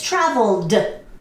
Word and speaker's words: traveled: this you add Eadie pronunciation is no t it's traveled traveled okay so traveled okay travel good okay so the Indian sound is D traveled okay traveled I